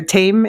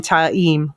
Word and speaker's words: Taim: I noticed last season I always called them Ma T in my head or tame in my head but they called him taim last season oh yeah it's I always said mam taim okay um but yeah